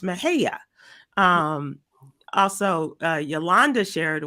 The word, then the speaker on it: Mexia: system going through a town in Texas called Mexia Nexia what's next and it's it's pronounced Mahaya um also uh Yolanda shared with me uh